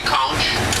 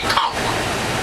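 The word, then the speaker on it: conch: the shellfish spell c o n c h pronounced couch but we don't say couch we say konk the conquest of muscle shellfish no bones similar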